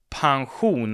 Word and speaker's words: pension: inventive spellings for instance we have pong hoon which means pension pang hoon and here we spell it with s i pang hoon pang khoon pang hoon and then we have